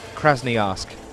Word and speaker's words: Krasnoyarsk: Alexander Kalina here, 27 years old, from Krasnoyarsk. I'm going to pronounce that properly now. Krasnoyarsk. There we are, got there in the end.